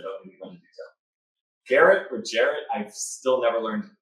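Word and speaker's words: Gerrit: Garrett, okay. I thought I heard someone trying to pronounce it about it.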